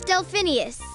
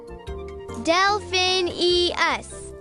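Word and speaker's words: Delphineus: was trying to say my name's delphinius what Delphin e us got it elfinius got it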